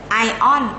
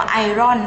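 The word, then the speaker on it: iron: เดี้ย ม โครเมียม manganese ไอออน เหล็ก เขา อ่าน ว่า ไอออน ไอออน ไม่ ใช่ อ่าน ว่า ไอ ร่อน นะ มี ไอออน ไอออน แล้ว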